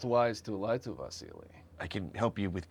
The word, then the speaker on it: Vasili: It's pronounced Vasily. Vasily Yaromir Yemelyanovich Anderson from North Dakota.